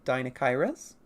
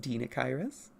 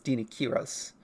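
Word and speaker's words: Deinocheirus: Because, like, as people would normally say, Dinokairos. It's pronounced Dinokairos. Or, well, it's Dinokyros.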